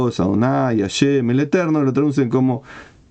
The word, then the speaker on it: Adonai: y lo que quieran no se sabe cómo se pronuncia esa palabra no es Jehová no es esa palabra se pronuncia Adonai la mayoría de las veces por eso algunos me